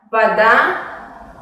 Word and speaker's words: вода: En la palabra вода pasa lo mismo. La vocal A es tónica y se pronuncia de una manera normal. Y la vocal O se pronuncia más como una A breve.